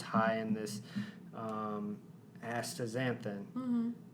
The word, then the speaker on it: astaxanthin: of crossing all sorts of future podcast boundaries astaxanthin is a carotenoid that also acts as sunscreen